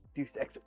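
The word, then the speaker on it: Deus Ex: I don't know how to pronounce it. Deuce X. Japanese. Come on. Deuce X.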